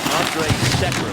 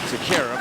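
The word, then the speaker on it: Andrej Sekera: Now, I want the pronunciation, please, to listen. Andre Sekera is how he wants it pronounced now. It used to be Sekera, but he's the guy, Peter, that they went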